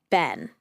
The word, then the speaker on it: been: in see Bean no with the vowel in set Ben how have you been